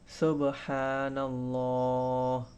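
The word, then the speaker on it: سبحان الله: তাহলে আমরা যদি সঠিকভাবে উচ্চারণ করার চেষ্টা করি। সুবহানাল্লাহ।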